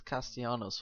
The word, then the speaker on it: Castellanos: Everyone pronounces Castellanos without, like with silent L's, but I don't think it's as fun name as to say.